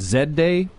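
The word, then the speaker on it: Z-Day: is the fourth annual is it Zed day zday zday well I see but it's Canada so say Z right initially I had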